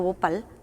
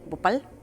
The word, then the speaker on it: Bhopal: en la India y se llama el caso Bhopal. Se lo pueden buscar en YouTube, hay varios documentales, se escribe B de burro, pues, o B, o P-H-A-L, Bhopal.